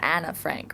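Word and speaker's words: Anne Frank: so people pronounce it right because that's closer to what her name is so her name is Anna Frank really also her diary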